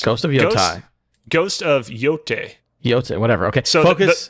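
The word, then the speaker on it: Yōtei: in Japanese, when you have like an E and an I together like that, you just pronounce the first vowel.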